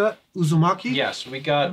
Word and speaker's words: Uzumaki: Uzumaki? Yes, we got Uzumaki Naruto from the village hidden in the leaves.